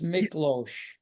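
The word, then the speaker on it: Miklós: to my rescue again that's miklo again the S is as an sh and the last name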